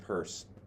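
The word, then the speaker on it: Peirce: Pur yeah so he in his purse pronounced purse like like a carrying a purse I heard about the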